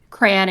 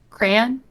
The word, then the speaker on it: crayon: do a mix of crayon and crayon I guess it's like crayon it's like I do the cray but then I add the on I don't what about